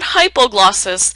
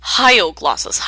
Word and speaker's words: hyoglossus: over to the tongue a lot of students tend to Mis spell this or mispronounce this as the hypog glossus but it's not hypoglossus it is hyoglossus H as in hyoid and it's this guy